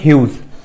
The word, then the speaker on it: Hughes: इसकी स्पेलिंग है HUGHES, बट इसको हम पढ़ेंगे ह्यूज।